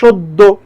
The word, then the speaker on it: সদ্য: এখানে যেমন দয়ের সাথে জ ফলা আছে, তাই দুইবার উচ্চারণ হচ্ছে সদ্য।